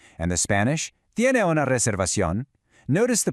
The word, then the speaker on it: reservación: And the Spanish, ¿tiene una reservación? Notice the pronunciation of that R in reservación. Try to give it just a little roll if you can. Reservación.